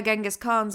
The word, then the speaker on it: Genghis Khan: if I'm like the bacteria who killed Genghis Khan, Chinggis Khan, I think is how it's supposed to be pronounced, but Genghis is how everybody knows it.